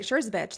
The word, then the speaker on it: Schurzabich: Schurzabich. That's the correct pronunciation.